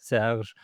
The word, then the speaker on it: Serge: If you can actually say my name in French, it's Serge.